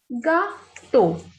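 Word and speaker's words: gâteau: Next is gato. G-A is ga, T-E-A-U is to. Gato.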